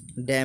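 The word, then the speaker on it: damn: डैम means धिक्कारना।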